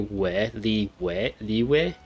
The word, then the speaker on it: Liyue: They seem to pronounce Liyue instead of like Yue sound. It's like a W, Liyue.